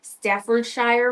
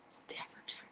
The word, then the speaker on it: Staffordshire: This pattern is designed by the iconic Oh, I'm going to pronounce that wrong. In my head, I could say it. Staffordshshire mantel dogs. That's not right. Staffordshire.